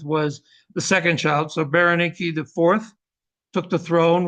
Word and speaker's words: Berenike: His daughter was put in charge, his oldest daughter, going back to the family tree, Berenice or Berenike, as they would have pronounced it, the 4th there.